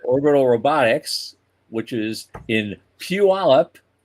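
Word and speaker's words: Puyallup: But Orbital Robotics, which is in Puallup, I got the pronunciation right.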